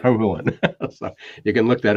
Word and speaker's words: Hohulin: Which is pronounced as in no fooling, right? Right. Hohulin.